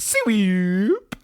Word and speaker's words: SWEWP: It's pretty much phonetically. So it's pronounced swoop.